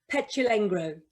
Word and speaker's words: Petulengro: I'm going to get your last name pronounced incorrectly, Claire. Claire Pechalengro. That's pretty good. That's pretty good. It's Claire Pechalengro.